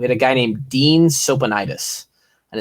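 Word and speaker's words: Tsopanides: We had a guy named Dean Sopanides, and his last name was spelled like T-S-O-P-A-N-I-D-E-S or something like that. Dean Sopanides.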